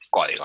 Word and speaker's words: código: hashtag manos en el código Recuerden que código lleva tilde porque es una palabra esdrujul Así que este es